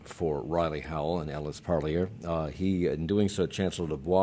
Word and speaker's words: Parlier: I believe it's Parlier. Parlier? That's what the family said.